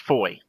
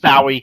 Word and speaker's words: Fowey: It's spelled Fowey, and it's pronounced Foy. I'm like, yeah, never would have got that. I would have called it Fowey.